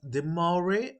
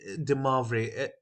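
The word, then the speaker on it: de Moivre: the marvelous theorem now this is pronounced as the Maury or de mavre any any variation is fine if you understand the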